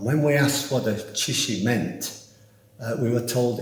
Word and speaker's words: 槌石: If you ask Google what in Chinese a hammer stone is pronounced like, it will say Chishi. Chui-shi, shi meaning stone, chui meaning hammer, Chishi.